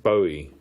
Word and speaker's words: Bowie: his life and go for the the classic Bowie name or Bowie as it's often uh mispronounced but I think he loves Bowie now.